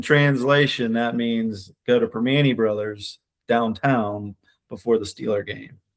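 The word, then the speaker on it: Primanti Brothers: to Pittsburgh, you got to go downtown to Perpany Brothers before the Steeler game. Okay, I gotta say it like that too. That's Pittsburghese, yeah. In translation, that means go to Permani Brothers downtown before the Steeler game.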